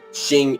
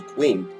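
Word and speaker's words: Qing: from collapsing and yes I realize it's actually pronounced for shin when I was um in History Class actually I realized in History Class my teacher was talking about them I thought they were pronounce the queen it's actually called the shin and I wish I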